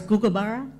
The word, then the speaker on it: kookaburra: Kookaburra is Googaburra.